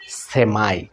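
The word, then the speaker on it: semi: আমরা সেমিফাইনাল, সেমি quarter এরকম শব্দ ব্যবহার করি না, ঠিক সেরকম। তো এটা উচ্চারণ হয় সেমি, আর এখানে আমেরিকান ইংলিশে উচ্চারণ হয় সেমাই।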